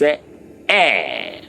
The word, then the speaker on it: est: Please, it's not east, it's not est, it's est.